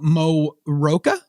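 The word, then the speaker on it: Mo Rocca: for uh Henry Ford's Innovation Nation with uh Mo Roka is that how you pronounced that correctly Morocco yeah I know it's Morocco I always thought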